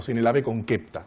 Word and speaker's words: sine labe concepta: Porque en latín también sine labe concepta o sine labe concepta, como se pronunciaría correctamente en latín.